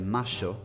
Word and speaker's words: Mayo: Stunning Plaza de Mayo, or Plaza de "Masho" if you want to pronounce it in the Argentinian way, is the historical heart of Buenos Aires.